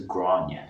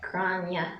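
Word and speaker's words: Gráinne: So if you know any Graces, their Irish name is Grania. Grania.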